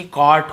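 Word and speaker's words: caught: सी ए यू जीएसटी तो भाई यू जीएसटी कॉट होता है ये भी कॉक्ड नहीं होगा जी साइलेंट है जैसे ब्रॉड था वैसे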